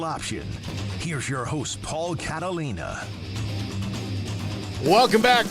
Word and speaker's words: Catalina: here's your host Paul Catalina welcome back Paul Catalia and Catalia I said my own name wrong my God H Pier